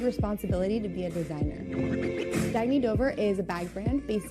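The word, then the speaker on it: Dagne Dover: Oh, it's pronounced Dagny Dover. Dagny means new dawn.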